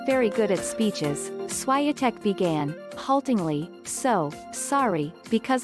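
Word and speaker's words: Świątek: mullen usa today sports swyatek pronounced chevy on tech is the first polish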